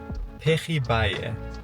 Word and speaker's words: pejibaye: And they are called pejibaye. That's the pronunciation we looked up online just now.